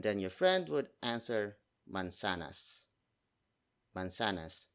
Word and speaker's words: mansanas: And then your friend would answer mansanas.